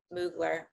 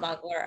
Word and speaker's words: Mugler: the dress and I had just come from moogler okay nuclear not muggler according to this person over here in the